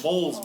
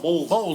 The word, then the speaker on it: Bowles: Bowles. Bowls, like a bowl.